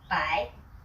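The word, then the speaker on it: 百: Then for 100 you have to learn one new word by.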